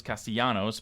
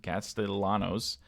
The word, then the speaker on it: Castellanos: few um cast Castellanos even though I thought it was Castellanos but apparently he pronounces it Castellanos never seen that with